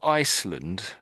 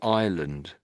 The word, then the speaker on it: island: You're saying Iceland. Iceland. But it's really island. So really the S is silent here.